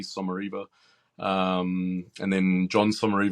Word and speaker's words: Sommariva: name at suara uh people always wonder how you pronounce that it's s o m a r i v a suara um and then John